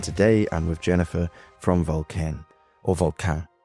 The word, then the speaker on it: Vulcain: No, actually, I think like I have many clients and visitors who actually like they say like Vulcain. So I think in English they pronounce Vulcain, but it's good. It's correct. Yeah. That's correct enough.